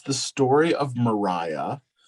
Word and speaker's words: Maria: it's the story of mariah spelled like maria but she says in the book that it's pronounced mariah and she's had a